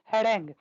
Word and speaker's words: harangue: क्या कहते हैं, हैरेंग। स्पेलिंग आप अच्छे से याद रखेंगे, HARANGUE।